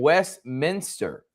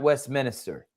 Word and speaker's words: Westminster: Manor Donovan 17, Augusta Prep, Heritage Preparatory, Fura Prep, and Westminster, not West Minister.